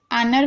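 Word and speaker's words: honour: एयर देख रहे हैं, एयर में हम एच को नहीं पढ़ रहे। आनर में देख रहे हैं, एच को नहीं पढ़ रहे।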